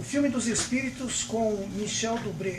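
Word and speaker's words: Michel Dubret: O filme dos Espíritos com Michel Dubré, é essa a pronúncia?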